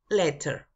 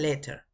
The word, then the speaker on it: letter: de las dos formas el estilo americano Es que la t suena mucho como r suavecita pero originalmente los ingleses la pronuncian como t Ellos dicen letter como usted guste you